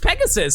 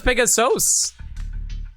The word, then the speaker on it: Pegasus: I'm a driver for Pegasus Logistics I was making a delivery in the neighborhood oh it's I was pronounced Pegasus I thought it was pegasos pegos or something you know as